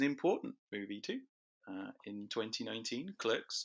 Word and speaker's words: Clerks: In 2019, Clerks, or Clarks if you're a fan of pronouncing stuff wrong, was selected for preservation